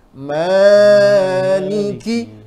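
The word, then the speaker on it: مالِكِ: saja tidak boleh lebih Maliki artinya di sini ada kesalahan beberapa membaca mana dibaca pendek boleh tidak kalau qiroat yang lain boleh seperti Imam waras bacanya pendek kemudian i imam yang lain ada yang baca pendek tapi tidak boleh riwayat Hafiz bacanya pendek harus bacanya panjang Maliki sama Maliki sebenarnya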